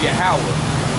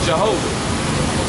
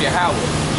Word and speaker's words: Yahweh: His name is Yahweh, but they falsely pronounce it Jehovah. But it's really pronounced Yahweh.